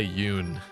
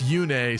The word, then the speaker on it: Yune: Um, but in Fay they say Yun. Now I guess Yune sounds a little goofy to be like a a god a little bit, but that was the original pronunciation, so it's hard to get past that. But it's weird going from Yune to Yun.